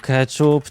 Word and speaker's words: keczup: Dobra ja sprawdzę s keczup Czy wiesz co Pierdol siwo zasadniczo zaleca się pisownię spolszczona czyli keczup i wymowie zgodnie z takim napisem Teoretycznie można również stosować